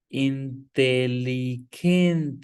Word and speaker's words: inteligente: Inteligente. G is k sound. Inteligente.